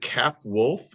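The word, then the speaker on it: Capwolf: on Captain America uh including a is it cap wolf is that how you say it yes where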